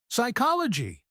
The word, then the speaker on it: psychology: So it's receipt psychology that P at the beginning gone it's cyolo guy and finally debt silent